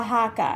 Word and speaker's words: Oaxaca: brand I guess guess oh wow haka and then you can see right there how that is spelled OA x ACA I've used this kind